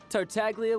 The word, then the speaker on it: Tartaglia: goes by tartality hello miss tartaglia will do just fine what it's a um you pronounce the g have i been wrong this whole time hey now all this